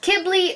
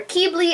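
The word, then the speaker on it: Qibli: And I know it's pronounced Kibbley or Keebly. I'm pronouncing it Quibbly because that's what I do.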